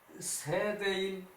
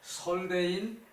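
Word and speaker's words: 說大人: 자, 맹자왈 세대인 이게 유세 대인을 유세한다는 얘기거든요. 그래서 세대인이라고 읽어야 하는데 우리 그러지 않기로 했죠, 그죠? 설대인 즉 모지 물시 기외외연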